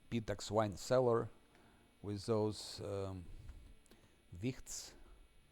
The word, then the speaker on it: Wicht: Now just collect the loot, and next will be Pitax wine cellar with those wichts. Verle called them whites, but correct pronunciation is wicht, because it's a German word.